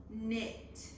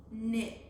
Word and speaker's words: knit: So our first sound is N, and we know that KN makes the N sound in the beginning of a word.